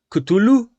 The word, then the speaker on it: Cthulhu: sinceros, como tú quieras, ni siquiera el mismísimo Lovecraft puso un estándar para pronunciar Cthulhu. En uno de sus libros incluso dice que la lengua humana no tiene esa capacidad para mencionarlo, así que básicamente lo puedes pronunciar como tú quieras.